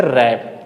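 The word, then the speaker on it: wrap: हम डब्लू को प्रोनाउंसिएट नहीं करेंगे। इसे क्या बोलेंगे? यहां इसको बोलना ही नहीं क्या बोलेंगे? रैप।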